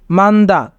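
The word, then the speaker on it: 많다: না তাই এখানে হিউতের উচ্চারণ হবে না তাই উচ্চারণ হবে মান্দা মান্দা মানে বেশি সালদা সালদা সালদা মানে বাস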